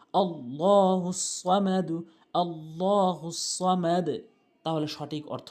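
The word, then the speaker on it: اللَّهُ الصَّمَدُ: আল্লাহু আহাদ আল্লাহুস সামাদ আমরা যে জায়গাতে বেশি ভুল করি সেটা হচ্ছে আল্লাহ আল্লাহুস সামাদ বলি আল্লাহ হবে আল্লাহ শব্দের ডান পাশে জবর এবং পেশ থাকলে পুর হয় আর আল্লাহ শব্দের ডানে জের থাকলে বারিক হয় মানে পাতলা হয় এখানে পুর হবে আল্লাহুস সামাদ হামজা লাম জবর আল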